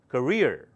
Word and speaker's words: career: now listen very carefully many people including people who are experts in Human Resources they pronounce it wrongly so let me fix that now it's called career career career so do not say career okay it can be confused with carer it's called CER career repeat after me career